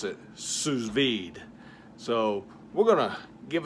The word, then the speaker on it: sous vide: Apparently it's a French style of cooking, and they pronounce it sous vide.